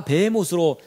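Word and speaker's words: בהמות: 히브리 언문 e 거거든요 요거 발음이 뱀 옷이에요 그리고 영어성경 도배 모스 라고 해 놨어요 그리고 여러분 제가 뭐 스페인어 성경 뭐 좋은가 성경을 다 확인해 봤는데 다 뱀 옷으로 번역 됐는데 우리말 개역성경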